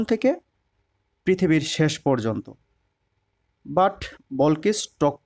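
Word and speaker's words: Balkis: never a queen like বল কিস এখানে ইংরেজিতে বল কিস উচ্চারণ হবে আর বাংলা হচ্ছে রানী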